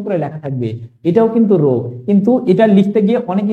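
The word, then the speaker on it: ρ: ঘনত্বকে প্রকাশ করা হয় রো দ্বারা এটার সঠিক উচ্চারণটা হলো রো এর সঠিক উচ্চারণ হলো কি বন্ধুরা রো এটা তোমরা এভাবে লিখতে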